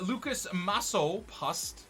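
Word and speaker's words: Lukáš Masopust: You've got a right mid, Lucas Masso Pust.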